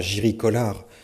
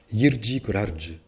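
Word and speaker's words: Jiří Kolář: On m'a dit non, pas Jiri Kolar, Jirji Kolarge.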